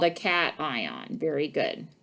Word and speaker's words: cation: yes it's called a cat ion very good cation i know it looks like haitian but it's pronounced cation we learned that the